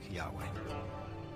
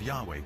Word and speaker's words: Yahweh: would be YH wh which we think were probably pronounced something like Yahweh but Yahweh only appears